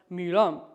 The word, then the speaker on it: milam: Milam, mi is also a high tone, so it's not milam, but it's milam, milam, and then kipo, tang.